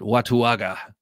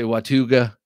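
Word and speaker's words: Watauga: Watuaga. Some people say Watuga. Some, I don't know. I choose to pronounce every letter in this one here.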